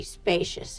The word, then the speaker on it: spacious: Use the long A sound, spa, like play and say, spa, spa-cious. Use the sh sound, like shoe and fish, sh sh spa-cious. Spacious.